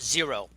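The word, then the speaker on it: Xero: New Zealand and Australia called zero and the company is spelled xer o and they are a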